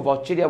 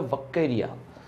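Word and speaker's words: Vaucheria: वाउचेरिया, generally कुछ books इसका pronunciation वाकेरिया करते हैं, वाकेरिया। रिसेंट आज हम लोग पढ़ते थे इसको वाउचेरिया बोला जाता था, अब जो इसका प्रोनाउंसिएशन होता है वाकेरिया।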